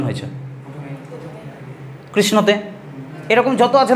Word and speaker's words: কৃষ্ণ: মাঝখানে কিছু হয়ে যাক পাচ্ছ কৃষণ সটা যদি পুরোপুরি উচ্চারণ হয়েছে কৃষ্ণ তাহলে স এর সাথে একটা অ চলে আসছিল বাট এখানে তো আসছে না কৃষ্ণ ঠিক আছে তাহলে এখানে